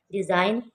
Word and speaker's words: design: डिज़ाइन, DESIGN, डिज़ाइन। डिज़ाइन में जी की sound नहीं आएगी, ये साइलेंट है।